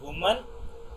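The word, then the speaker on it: women: तो वुमन एंड विमेन, WOMN, इट is pronounced as वी मेन।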